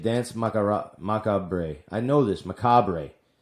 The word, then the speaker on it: Macabre: I know this, Macabre.